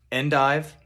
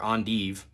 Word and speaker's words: endive: is not limited to Endive or ondive dandelion greens Belgian and dive or on dev however you prefer to pronounce it turnip greens escarole collard